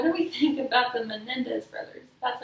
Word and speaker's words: Menendez: What do we think about the Menendez brothers?